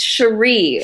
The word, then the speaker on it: Sharí: It's Sharí.